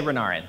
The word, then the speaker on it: Renarin: say is it rendering or renarin i say renarin all right i like that actually all right